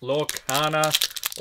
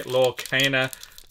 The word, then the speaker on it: Lorcana: have another leg of Mickey okay final pack lookana or I should say lorcana I'm saying it like how an Australian would pronounce it let's see what we get in